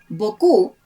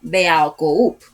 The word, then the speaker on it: beaucoup: For example, beaucoup versus mucho. If beaucoup were a word in Spanish, since it is a phonetic language, each letter would be pronounced, as in beaucoup, but that's not a word in Spanish.